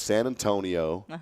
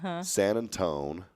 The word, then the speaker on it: San Antonio: Oh, and by the way, my sister added in a 4th way of pronouncing this town. Okay. It's San Antonio. Mm-hmm. So it's San Antonio, San Antone, San Antonia.